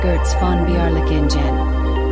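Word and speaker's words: Götz von Berlichingen: The most infamous example is God's van Berlinen pronounced Girtz Fonbearen, a German knight who operated for decades as essentially a medieval warlord.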